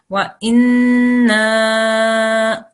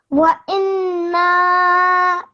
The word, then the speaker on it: وإنا: إن So when you do this, remember you have to hold the in sound for 2 seconds as well, because this is a noon gunna. Wa inna. وإنا Carry on.